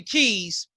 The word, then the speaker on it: Quise: you use that because you spell keys q-u-i-s-e but you pronounce the keys go into the meaning